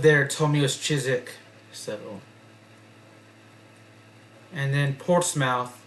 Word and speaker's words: Chiswick: like uh there a suburb of London called chisik cuz I pronounced it as Chiswick but people that lived there told me it was chisik so and then port mouth or Portsmouth instead